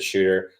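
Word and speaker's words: Schutt: It looks like Shut. It's pronounced like Shoot, and I think that's what he's going to do.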